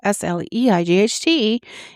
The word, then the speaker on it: sleight: A sleight of hand, S-L-E-I-G-H-T, is a skillful trick performed by the hand. It's about expertise, not size. The magician isn't making small movements. They're making clever ones. Sleight and sleight are pronounced identically.